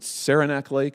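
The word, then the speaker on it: Saranac Lake: using it to go to what is it sarenac lake is that how I say it I've never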